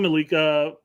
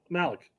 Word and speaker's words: Malik: Not Malik, Malik. Okay. It's like Malik Tillman doesn't play there. I'm pronouncing it incorrectly. I put the wrong emphasis on the wrong syllable, okay?